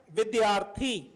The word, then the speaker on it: विद्यार्थी: okay next we have विद्यार्थी वि द यार विद्यार्थी see again raw comes up सो it will be pronounced before थ विद्यार्थी विद्या रथी विद्यार्थी